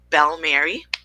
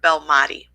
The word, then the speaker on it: Belmati: My name is Belmati, or Bell Mary. It can be pronounced anyway. I prefer Belmati.